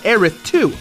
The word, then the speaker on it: Aerith: the PC game now refers to her as Aerith - so we're gonna call her that here